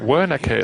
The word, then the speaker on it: Wernicke: Wernicke, that's how you pronounce it, okay.